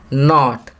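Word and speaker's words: knot: नॉट, यहाँ के silent letter लिखेंगे.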